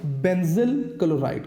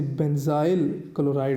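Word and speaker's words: benzyl chloride: तो आप इसे नाम देंगे बेंजल क्लोराइड का। मैं यहां पे लिख देता हूं बेंजल क्लोराइड, आप इसे बेंजाइल क्लोराइड भी प्रोनाउंस कर सकते हैं।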